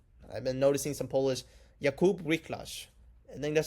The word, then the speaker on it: Wiklacz: And hopefully I pronounced that right because I have been learning some Polish. I've been noticing some Polish. Jakub Wiklacz.